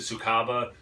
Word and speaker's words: Sucaba: the 2014 vintage of i pronounce it tsukaba abacus backwards a true english barley wine